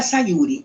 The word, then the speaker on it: Sayuri: o Sayuri se sentia Sayuri ou Sayuri porque são três sílabas deixar Sayuri né como a gente em português fala ainda vibrava de íntimo